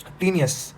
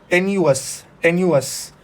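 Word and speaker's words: tenuous: Next word है हमारा टीनियस या टीनस। ठीक है, तो इसको आप वापस से ब्रेक करिए। अच्छा, इसको हम प्रोनाउंस करते हैं टेन्यूअस। ठीक है, तो बड़ा अजीब सा प्रोनाउंसिएशन है इसका, टेन्यूअस।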